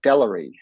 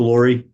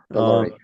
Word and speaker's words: Lori: great thank you commissioner delery that I pronounce that correctly pretty close to Lori Lori uh thank you Senator